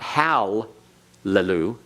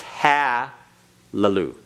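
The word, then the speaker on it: הַלְלוּ: is this is hallelu notice the difference it's not Hal Lulu it's ha Lulu right okay if you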